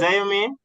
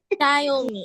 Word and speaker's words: Xiaomi: How you pronounce your name? Yeah. Xiaomi. Is it? Zayomi?